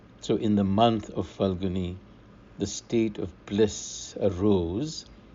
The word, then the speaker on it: ਫਲਗੁਣਿ: cycle santa by we commonly pronounce this month as pagan in punjabi falguni is how it's written and this is the